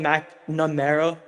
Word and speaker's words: McNamara: I'm here with a special guest, Micheal McNamara. How are you doing today? Hey, good pronunciation.